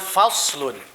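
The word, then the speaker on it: فصل: tulisannya Bapa ulang bacaannya faslun gitu ya dibacanya itu sound pakai outside bukan pakai Sin gitu ya faslun Apa artinya faslun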